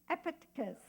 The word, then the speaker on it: Epictetus: Who gave me the right pronunciation? Yeah, it was Blair. I said, did I say that right? Epictetus.